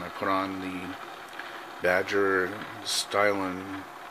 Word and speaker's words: Stynylrez: To let you know, it was bare plastic when I put on the Badger Stynylrez. I'm sure if you say it properly and fast, it sounds like a really wet sneeze.